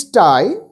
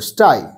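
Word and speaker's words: sty: এ পিগ ইন ইটস স্টাই তার মানে পিগ যেখানে থাকে সেই জায়গাটাকে স্টাই বলে এস টি ওয়াই স্টে না কিন্তু স্টাই এরপরে এ র‍্যাবিট ইন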